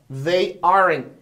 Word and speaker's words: aren't: Você vê que esse T quase que não sai, ó. They aren't angry.